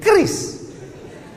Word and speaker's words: QRIS: Sekarang di pintu-pintu masjid, di pintu-pintu mall ditulis ada namanya QRIS. QRIS. QRIS. Cara bacanya gimana sebetulnya? Kris. Q-nya quick. Quick artinya cepat. R-nya response. Kris, quick response code.